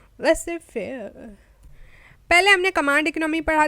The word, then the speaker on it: Laissez: अच्छा, बहुत से लोग इसको लेसेस फेयर भी कहते हैं। That's wrong. Z is silent. ये फ्रेंच वर्ड है और फ्रेंच कुछ ऐसी अटपटी होती है, लिखा हुआ कुछ होता है और बोलते कुछ है।